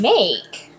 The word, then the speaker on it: make: The silent E at the end of make is making the A say its long vowel sound or its name.